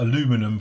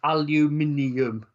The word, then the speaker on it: aluminium: shall we see what the light aluminium is like while I'm at it or aluminum for our American friends no no it's aluminium look aluminium yes that's one of the words that we actually pronounce wrong is it what aluminium